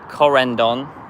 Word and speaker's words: Corendon: We've got a Corendon. Yeah, Corendon, that's how you say it.